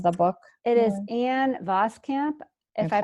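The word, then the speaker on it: Voskamp: author's name of the book it is an vos camp if I pronounced that ya announce that correctly it's B OS k a.m.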